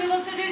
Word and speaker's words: university: And you see here, by a university teacher. Here as I explained you, that U is a vowel, but the pronunciation is coming of Y. The Y sound, consonant sound is coming.